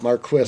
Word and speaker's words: Marquis: perfects and our Bugles and the Marquis we pronounce it Marquis if you call the company call it a